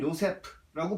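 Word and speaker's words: יוסף: 그리고 네 번째로 야곱의 아들, 야곱의 자손인 요셉 혹은 요세프라고 발음할 수 있습니다.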